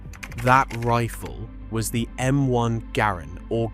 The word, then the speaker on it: Garand: That rifle was the M1 Garin or Grand if you want to spend the rest of the day arguing in the comments. The man who designed it pronounced his name Garand rhymes with errand.